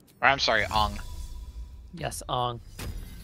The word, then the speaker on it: Aang: Yes, Aang. Pronounce his name correctly.